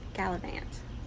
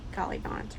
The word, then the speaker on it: gallivant: I checked Merriam-Webster, and it's Gallivant, not Gallivant or Gallivant.